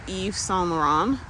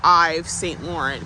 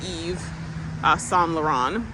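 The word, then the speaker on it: Yves Saint Laurent: second it's Perry day Eve s lauron it looks like Paris day um I St Lauren but it's pronounced Eve s lauron so um it I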